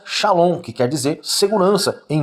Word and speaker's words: shalom: Então, a pronúncia em hebraico da palavra paz é shalom, que tem o sentido de segurança, bem-estar, de uma pessoa com saúde, prosperidade e paz.